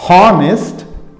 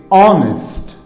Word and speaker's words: honest: This is not pronounced however, this is pronounced are. This is not honest, this is honest.